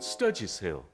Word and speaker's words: Sturgis: 이게 정확한 발음이 뭔지 저는 스터지스예요. 외국 짐 분들은 거의 스터지스.